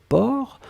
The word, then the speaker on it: porc: Alors souvenez-vous que porc, on ne prononce pas le C final.